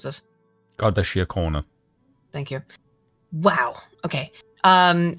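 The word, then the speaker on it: Garda Síochána: Drew Harris commissioner of the Garda can you pronounce this godia corner thank you wow okay um Ireland's national police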